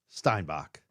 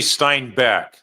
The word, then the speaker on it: Steinbeck: doing hi everybody it's actually Stein Beck so Ste I said it wrong there oh Stein Beck make sure so like car uh what's that guy's name Glenn Beck Stein Beck yeah yeah it's like the author but no relation John